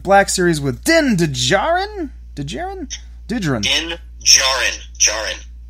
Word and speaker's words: Djarin: Djarin. Din Djarin. The D is silent?